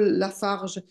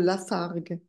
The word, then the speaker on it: Lafargue: d'écrire je disais que tu fais un erreur de prononciation tu dis Paul Lafarge il s'appelle Paul Lafargue oui c'est vrai angellic